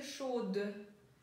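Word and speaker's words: chaude: Вы знаете слово «шо», а горячая в женском роде «шод». И у вас, соответственно, появляется «э» на конце, и «д» уже будет произноситься.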